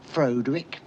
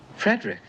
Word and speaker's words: Frederick: no it's pronounced frankenstein do you also say frodrick no frederick well why isn't it frodewick frankenstein it isn't it's frederick frankenstein i see you must